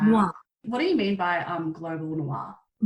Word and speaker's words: noir: How do you pronounce it? Noir. Noir.